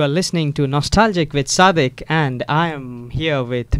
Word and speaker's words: Sadiq: I've got to tell you that, people who have your name here in the United States, they pronounce it Sadiq. Yeah. Yeah, so and yours is pronounced Sadiq. That's really interesting. Yeah, exactly. My name is Sadiq. We don't really pronounce the. We pronounce it as the. The. So it's Sadiq. Okay. Sadiq. Yeah, Okay. it's an Arabic name.